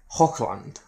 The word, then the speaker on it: Hochland: This time around we're looking at Hochland, which might be differently pronounced, but from what I know in German that's how this thing is pronounced.